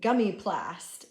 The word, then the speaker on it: gummy-plast: The sniglet is a noun pronounced gummy-plast. It looks like they took the two words gummy bear and plastic, or plastered together, and formed the sniglet gummy-plast.